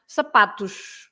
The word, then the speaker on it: sapatos: begin with a vowel, the usual pronunciation of the S at the end, as any plural, for example, with the S, you pronounce sh, right? Sh. So, for example, you have, as I said, sapato, and then you have sapatos, for shoes, right?